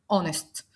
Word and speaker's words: honest: امثله اور اونر اونست بالرغم ان الثلاث كلمات بيبتدوا بحرف الاتش وهو حرف ساكن الى انه لانه سايلنت احنا نطقنا تاني حرف الاو فبالتالي بقت اور ساعه اونر شرف اونست شريف وبالتالي النطق نطقته حرف متحرك اذا فحطيت اداه التعريف